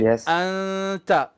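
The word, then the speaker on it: أنت: So if it is the word anta, for example, so we say anta, and my tongue is floating, not touching, and my tongue is now preparing for the letter ta, for the makhraj of the ta.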